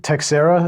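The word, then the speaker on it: Teixeira: the arrest of uh Jack Jack teera is that how we pronounce his name Patrick yeah and the question is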